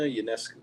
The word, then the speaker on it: Ionescu: Sabrina Ionescu. Ding, ding, ding. That is correct. Oh, yeah. Can you spell it?